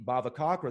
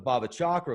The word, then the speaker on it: bhavacakra: physical form even in the bhavacakra that I was referring to earlier that's how it's pronounced I know I've called it the bhava chakra for a while because